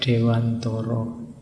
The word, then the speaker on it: Dewantara: ketemu beliau Ki Hajar Dewantoro ya kalau pakai bahasa Jawa kan bacanya Dewantoro nanti yang mungkin tidak familiar ya bunyinya jadi Kia Hajar Dewantara ndak apa-apa sama kayak